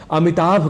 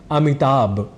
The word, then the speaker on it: अमिताभ: हम कह जाते हैं अमिताभ जैसे अमिताभ बच्चन यह एक प्रसिद्ध नाम है पर शीघ्रता वश या अनवत वश हम अमिताभ इस शब्द में भ की जगह ब यह उच्चारण कर जाया करते हैं और उच्चारण की दृष्टि